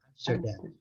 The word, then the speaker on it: Amsterdam: O inglês O inglês britânico, então, ele pronuncia a sílaba forte é a última. Amsterdam. Amsterdam, certo? Amsterdam. E o inglês americano pronuncia...